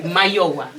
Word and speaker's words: Mayowa: Also, my name is Maiwa. I didn't pronounce it properly. Mayowa.